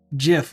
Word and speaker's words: GIF: I wouldn't say everyone's it's also GIF with a hard G because anyway pronounce it how you want I will tell you that I will continue pronouncing it JF and Jason and sudu